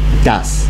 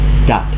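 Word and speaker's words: דת: It is Das. Das is the Ashkenazic pronunciation of a Hebrew word, dat, religion.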